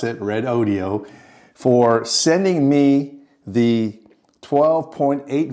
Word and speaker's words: Redodo: thank red audio and yes that's how you pronounce it red audio for sending me the 12.8 volt 100 amp